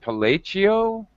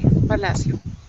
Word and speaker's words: Palacio: okay hello uh police is it pelagio uh hello um i'd like to welcome palacio or palacia to the class my name is palacio okay thank you sorry for